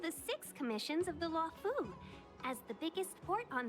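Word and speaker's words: Luofu: six commissions of the law Fu as the biggest port on the ship starskiff Haven is governed by the sky fairing commission too okay so that's pronounced law who got there Sisters still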